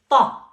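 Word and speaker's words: ط: It is a very strong T. We say ta.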